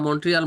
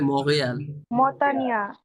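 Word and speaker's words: Montréal: আর কি বলে ওরা আমরাও তো শুনছিলাম মন্ট্রিয়াল মন্ট্রিয়াল বলে কিন্তু এখানে ওরা বলে মহেল সারাজীবন বলছে হয়ে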